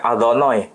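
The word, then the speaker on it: אדוני: Orang Yahudi membacanya Adonai. Tidak boleh dibaca sesuai dengan tulisan. Karena ini terlalu suci.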